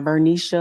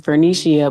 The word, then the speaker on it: Vernishia: my name wrong so the correct is vernicia it's not vernisha or whatever else it's vernishia but you can call